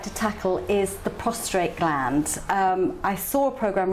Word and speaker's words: prostate: It's prostate and not prostrate, like most people say.